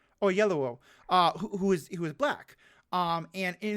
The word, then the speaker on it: Oyelowo: How's it pronounced? Oyelowo.